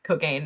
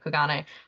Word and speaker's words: Kogane: pronounced it like that, like Cogaine instead of Kogane.